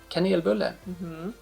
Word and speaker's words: kanelbulle: Kanelbulle.